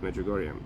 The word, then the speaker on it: Medjugorje: Medjugorje.